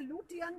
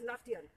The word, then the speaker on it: Lutyens: See, in Hindi we say Lutyens, but in English it is pronounced as Lutyens.